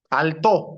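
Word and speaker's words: Althaus: El primero que vamos a desarrollar es Altaus. Alto se pronuncia, ¿no?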